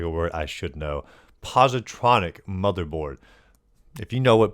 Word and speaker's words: positronic: And a new artifact, the uh Posteronic motherboard, if I'm saying that correctly. I could be butchering. Posteric postigos. Let's look how up how to say it because I actually do not know how to say whatever that word is. Is that even a word? Positronic.